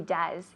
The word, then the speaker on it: does: Yes, he does. Con la U. Yes, he does, decimos. Yes, he does. Does? Does? No, porque es una O y E, pero se pronuncia como una U en inglés.